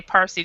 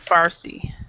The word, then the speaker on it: Farsi: yeah and i and i kept trying to say parsi just like you did we were both getting it wrong so persian persian and farsi ah persian i say